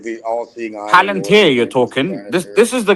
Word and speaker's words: Palantir: Planetaire or whatever? Planet? I don't know how to pronounce this shit properly. It's like the all-seeing eye. Palantir, you're talking.